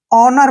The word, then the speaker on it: honour: दोस्तों यहाँ पर देखिए HONOUR, इसको हम हॉनर नहीं पढ़ेंगे, ठीक है ना। हॉनर नहीं पढ़ना है क्योंकि यहाँ पर H जो है हमेशा साइलेंट रहता है, ठीक है ना। O से पहले जब भी H आएगा तो वहां पर H साइलेंट हो जाता है, इसलिए हम इसको HONOUR को ऑनर पढ़ेंगे। क्या पढ़ेंगे? ऑनर, ठीक है, ऑनर पढ़ना है।